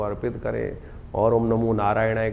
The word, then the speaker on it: नारायणाय: मंत्र का उच्चारण बिल्कुल सही होना चाहिए। कई बार लोग मंत्र का जप करते करते थोड़ी सी गलती कर देते हैं। नारय नारायणा नारायण नारायणाय नारायण नय नहीं है। नारायणाय ओम नमो नारायणाय इस